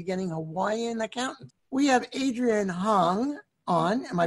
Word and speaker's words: Adrian Hong: We have Adrian Hong on. Am I pronouncing that right, Adrian?